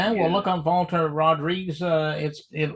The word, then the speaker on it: Rodrigues: Well, yeah, look up Valter Rodrigues. It like he said, it sounds like Rodriguez, but with it's an S and it's a different pronunciation altogether.